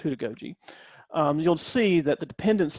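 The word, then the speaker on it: heutagogy: So with pedagogy, andragogy, and then there's this concept called hudagogy. So who, like WHO, that's how it's pronounced, hudagogy.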